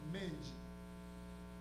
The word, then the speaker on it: Menge: avons aussi édit Menge vous m'excuserez si je prononce mal votre nom et dites mange c'est bien ça merci Madame dougouste yole